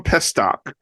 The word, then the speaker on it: Pestock: let me say his name correctly here Tom pestock also known as Baron Corbin is officially a